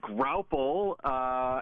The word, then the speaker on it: Graupel: The Graupel showers. Am I saying that right? Yep, you're saying it right. It's called Graupel.